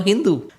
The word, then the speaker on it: Sindhu: The Persians who came to India had heard of the fabled Sindhu river. Except that when they pronounced it, they dropped the S and called the river Hindu.